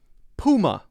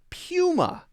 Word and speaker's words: Puma: But I've heard a lot of people pronounce it as Puma. Puma? Yes, Puma. So maybe if you say Puma, it's okay. I've always called this Puma. Poo instead of pew.